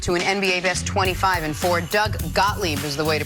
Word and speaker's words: Doug Gottlieb: Doug Gottlieb is the way to pronounce it.